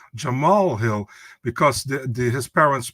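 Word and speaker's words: Jamahal Hill: said about Jamal Hill it's like John Mahal Hill oh no Jamal Hill because the the his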